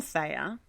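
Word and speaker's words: Theia: Some people might pronounce it Thea, but I pronounce it Thea.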